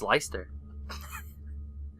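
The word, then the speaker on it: Leicester: a regional dialect um if you live in lie sister please tell us the correct way to say if you don't it's Lyster but yeah it's a cemetery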